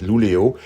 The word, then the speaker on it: Luleå: 466 km pour rejoindre Luleå, ça s'écrit comme ça mais ça se prononce en fait Luleå, et plus particulièrement Gammelstad, un village-église qui se trouve à proximité.